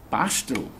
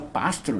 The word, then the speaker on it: pastro: Ele estuda linguística como literatura de Noam Chomsky, mas ele também sabe linguística de pastro. Eu pronuncio pastro, não é pássaro, pastro.